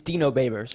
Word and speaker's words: Babers: we got so I'd always wondered how to pronounce this it's it's Dino babers right you know babers yes sir okay that's